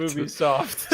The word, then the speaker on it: Ubisoft: Gonna be Ubisoft, or how do you even pronounce it? Ubisoft. What do you guys say? Ubisoft. Okay. Perfect. Ubisoft.